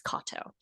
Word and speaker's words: Katow: when but it is it is a Japanese last name that's Kato um and yeah so